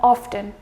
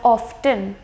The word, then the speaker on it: often: the word is pronounced it has two pronunciations that is being T silent and T being pronounced the main logic behind